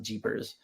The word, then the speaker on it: GPRS: know Edge and then there was a GPRS they pronounce the Jeepers and then there's like